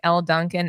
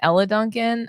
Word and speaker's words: Elle Duncan: All I know is that if you don't stop calling Elle Duncan Ella Duncan, I'm gonna lose it.